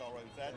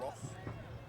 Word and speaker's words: Roz: And it's Roz now. Sugihara? Sugihara. Sugihara. Su, so SU is Su. Su. Su. Su. Gi. So he's the I. Sugihara. Sugihara Roz. So it's R-O-Z, well not Ross.